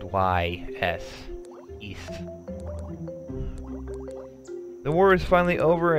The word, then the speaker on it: Ys: Oh, Ys, which is spelled Y-S. East.